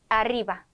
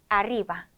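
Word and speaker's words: arriba: 두 개가 오는 경우 자 이럴 때 혀를 굴려줍니다 읽어 보죠 게레로 게레로 아리바 아리바 이렇게요 자 그리고 두 개가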